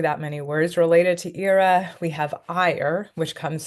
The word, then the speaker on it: ira: them so the next on our list is Ira that's that's how it's pronounced is Ira if you come study Latin um you will